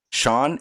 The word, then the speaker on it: Sean: Sean, S-E-A-N, does not equal any other Sean's.